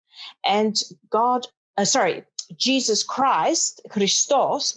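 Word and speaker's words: Χριστός: god sorry jesus christ christos which is the the right way to say it and its code which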